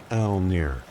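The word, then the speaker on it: Mjölnir: This is Mjolnir, pronounced roughly Elnir, the hammer of Thor,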